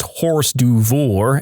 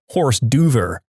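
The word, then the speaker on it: hors d'oeuvre: exaggerated way and said I can't believe you just pronounced horse duor as horse Dover I hope that makes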